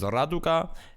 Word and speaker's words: Raduga: This guy PagyrA, actually his name is Raduga. I learned that way back in the day. That even though it's spelled with a P, it sounds like an R. It's just all these Russian letters that are meant to confuse you.